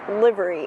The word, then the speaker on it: livery: Oops, I realized I meant to say livery. It's pronounced livery.